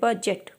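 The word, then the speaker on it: budget: समझ सकते हैं कि जी के पहले जब डी आता है या डी के बाद में जब जी आता है तो वहाँ पर हमारा डी का साउंड जो होता है साइलेंट होता है, जी का साउंड लिया जाता है।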